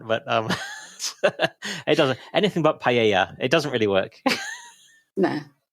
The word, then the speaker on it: paella: Anything but paella.